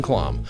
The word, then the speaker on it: Klamm: Well, what's funny is all the other Klamms, who actually pronounce it Klamm, of all of them that I've found, about 3 of them are almost exactly my same age.